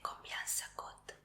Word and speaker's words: combien ça coûte: Y cuánto cuesta se dice combien ça coûte. Sí, y así se escribe. Tenemos otra vez esta C que se pronuncia como S.